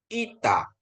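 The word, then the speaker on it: ήτα: Dalam bahasa Indonesia i biasa, ita ya.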